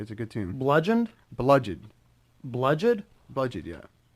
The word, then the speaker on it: bludgeoned: Bludgeoned? Bludgeon, Bludgeoned? yeah. Spell that.